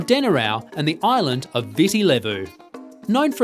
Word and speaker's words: Viti Levu: Marina the largest island visi levo pronounced Viti Levu is home to 70%